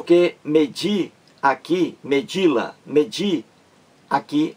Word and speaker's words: medir: palavra oxítona e a o acento tônico o acento mais forte está aqui nessa sílaba de que é a última da palavra medir lá medir então o di